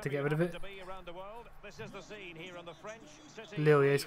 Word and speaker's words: Lille: Lil, yeah, he's pronounced Lil.